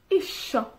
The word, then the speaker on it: isio: En Gymraeg, isio. Isio. Se escribe un poquito diferente de que se dice, lo que se habla. ¿Ya? Pero cuando hablamos decimos isio.